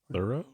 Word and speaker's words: Tureaud: but Tureaud? Thorough? Tureaud. Just I T. assume it looks French. Two Rod.